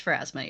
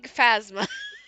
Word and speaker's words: Pharasma: It's Pharasma, yes. Okay. It was Pharasma? an Okay. altar to Pharasma. Because I see, I was really close. I was thinking Phasma. Phasmophobia. I was missing a syllable there.